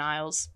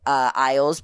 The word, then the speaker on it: Isles: How do you pronounce that last name? Isles. Rosalian Isles. Isles, pronounced Isles.